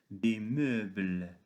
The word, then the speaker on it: meubles: Le deuxième mot, des meubles. Observons bien que E avec U se prononce E, comme un jeu, un pneu, etc.